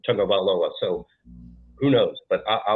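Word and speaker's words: Tagovailoa: So sometimes that's a little bit different pronunciation with things, such as Tungavailoa, which doesn't even have an N, but we say Tungavailoa.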